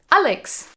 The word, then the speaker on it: Alex: Germans pronounce Alexander Alexander and how do they pronounce Alex Alex Alexander comes from the Greek and it